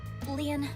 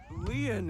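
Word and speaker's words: Lien: Leon, please tell me one thing.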